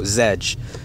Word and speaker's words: Zedge: That's spelled Z's in Zulu, Echo, Delta, Golf, Echo, Zedge.